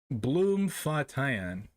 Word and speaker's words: Bloemfontein: Bloemfontein.